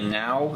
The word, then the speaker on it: NAO: pretty high-end one uh the now is the version it's spelled n a o and it's one of